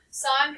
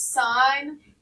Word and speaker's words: sine: of the whole word no it is not the word sin it is not the word sin it's a long I please don't call it sin because then that tells